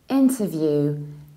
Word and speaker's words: interview: to inter interview interview in the American accent we say enter with tur still reduce syllable but with stronger but reduce syllable tur view interview however many Americans will skip this T and they will say in our interview interview interview interview and another very